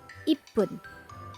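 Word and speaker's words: 一分: Pun is used after 1, 3, 4, 6, 8, and 10. Example: 1 minute called Ippun, 3 minute called Sanpun,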